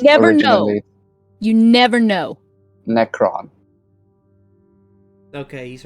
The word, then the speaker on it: Necron: do you spell that n-e-c-r-o-n yeah necron that's how i heard cypher say it but i usually just refer to it as necro it's probably cypher's homebrew